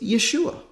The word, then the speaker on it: Yeshua: pronounced yeah oh sure the shortened form of his name is Yeshua not yeah she well now this Joshua